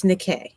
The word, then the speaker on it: Nikkei: And yes, I know it looks like Nike, but it's Nikkei.